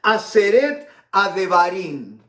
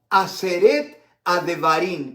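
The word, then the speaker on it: עשרת הדברים: Y yo lo he escrito acá para pronunciarlo bien. Aseret Adevarim. Aseret Adevarim, que significa las 10 palabras.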